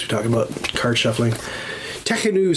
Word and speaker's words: Tekhenu: And this is oo, not you, oo. So you say Tekhenu.